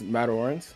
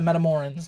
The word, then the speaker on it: Metamorans: the Fusion Dance kelp the or who is matorin yeah you pronounced it incorrectly but I'll give it to you it's the metamorans not the M he so I'll give it